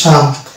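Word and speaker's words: psalm: যেমন এটা হচ্ছে শাম, আর এটা হচ্ছে সাইকোলজি, এখানে পি এর উচ্চারণ আসছে না, এই দুটি ওয়ার্ড পেলাম, শাম এবং সাইকোলজি।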